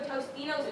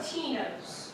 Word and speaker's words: Totino's: She threw a Tostino's pizza. Totino's. Tostino. Totino's! No, Jamie, it's pronounced Totino's. There's no S.